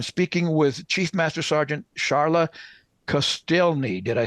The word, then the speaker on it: Sharla Kostielney: the country I'm speaking with chief Master Sergeant charotte celi did I say it right Chief yes sir